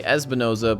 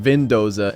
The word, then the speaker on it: Espinoza: accidentally mispronounced his name his name is actually espinoza but i called him vindoza in the last reaction video so i'm gonna call